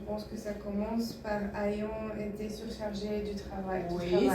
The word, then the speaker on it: ayant: que ça commence par ayant été surchargé du travail. Oui, c'est bien. Mais juste, je vous rappelle que A-Y, vous le pensez comme A-I-I. Le A-I, c'est déjà E. Donc, comment on prononce? Ayant.